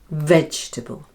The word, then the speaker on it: vegetable: There are 3 syllables and the first one, veg, is stressed. Vegxtable. Vegxtable. And the second and third syllables are combined, and instead of saying table, we say table, because the vowel is unstressed and so takes on the sound which is that common little schwa sound.